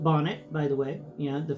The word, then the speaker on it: Bonnet: the doctors said was Manet, Manet, Manet, Manet. No, now, if you're a doctor and you're watching this, whenever you tell a patient they have Charles Manet syndrome, please pronounce it Charles Bonnet syndrome and explain to them